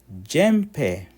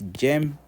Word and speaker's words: jembe: Jempe. Jempe, that's a farm instrument. Actually, a farm instrument is not that. It's jembe with a B.